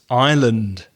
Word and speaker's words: island: The S is not pronounced. So it's island.